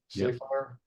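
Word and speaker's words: Safire: language columnist William Sapphire is it pronounced Sappire. Sapphire. We say Sapphire, don't we? Yeah. Like the gem.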